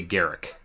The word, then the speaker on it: Garruk: I say Garrick, but I also have been saying Garrick since 2007, so it's... I just like to say Garuk because it's Garuk.